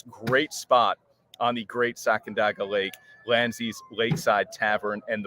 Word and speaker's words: Sacandaga: us about this great spot on the Great Sacandaga Lake, Lanzi's Lakeside Tavern, and the brand new Channel Bar, which we will show you.